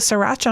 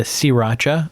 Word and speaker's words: Sriracha: Yeah, well, certainly popular with the hipsters around here, but they might have opinions on the Sriracha. I found out that the first R is silent.